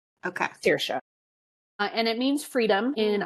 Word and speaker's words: Saoirse: So if I can remember correctly off the top of my head, it's Saoirse. Okay. Saoirse.